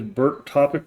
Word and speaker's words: BERTopic: that wrong um that that's just way I learned how to say is Burt topic but the actual spelling is b e r t all capitalized in topic underwat reverse um